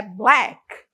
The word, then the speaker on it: black: Então, a primeira é black. Black. Black, que é a cor preto, né? Black. Então, a tem o som de E. Blé. Black, black, black.